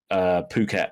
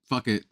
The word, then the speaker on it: Phuket: I know that it's pronounced, like I said, Phuket now, but honestly, when I first saw it and just first saw how it was written, I just thought it was like fuck it.